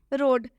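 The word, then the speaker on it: road: यहां लिखा हुआ है रोड में ओ के बाद से है तो ओ का उच्चारण ओ से होगा मतलब कि र में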